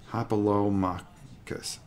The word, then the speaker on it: Hoplomachus: and they got, okay, it's Hoplomachus, phonetically. Hoplomachus.